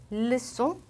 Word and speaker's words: leçon: 이게 원래 규칙인데 여기에다가 원래 끄 발음이 나던 규칙에 이렇게 꼬리를 달아서 세지로 써주게 되면은 끄가 아닌 스 발음으로 변하게 됩니다. 예를 들어 볼게요. Ça, leçon, reçu.